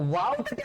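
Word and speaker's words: و: তো ওয়াওটাকে আমরা কি করব, একটু মুখটাকে গোল করে উচ্চারণ করব, ওয়াও ওয়াও ওয়াও।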